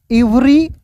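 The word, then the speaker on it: every: अब देखिए यहां पे एवरी नहीं पढ़ेंगे। इसे पढ़ेंगे एवरी यहां पे देखिए ई वी ई आर वाई तो ई का उच्चारण यहां पे ए के रूप में होगा एव्री ठीक है उसके बाद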